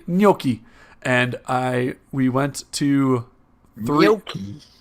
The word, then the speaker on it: gnocchi: and we went to Gnocchi. gnocchi. Say that again, Kyle. It's like an N. Is it? It's like an NG sound.